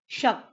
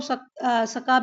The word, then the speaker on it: शक: National calendar, शक संवत बोलता है बेटा, ये SAK लिखा है ना, बट इसको प्रोनाउंसिएशन क्या है इसका, शक, ठीक है। या फिर इंग्लिश में आप बोलो तो सका भी बोलते हैं, बट आप हिंदी में